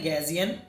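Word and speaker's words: Gaussian: Click करने के बाद आपको यहां पे सर्च करना है गैजियन। स्पेलिंग आपको ये वाली रखनी है।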